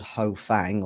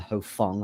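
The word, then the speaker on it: Ho Fong: on works for somebody called ho fang or rather ho fung i should probably say it correctly um whose name has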